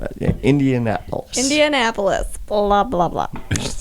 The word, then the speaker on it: Indianapolis: Like, She got it when I said, just think of Minneapolis and just put Indian in front of it. Yeah, Indianapolis.